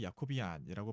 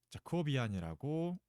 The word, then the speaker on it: Jacobian: 수 있는지 살펴보겠습니다 그 참고로이 자코비안이 뭐 야코비라고 발음되고 하고 야코비안이라고 발음되고 하는데 저는 자코비안이라고 발음을 하겠습니다 뭐 경호에 따라서 좀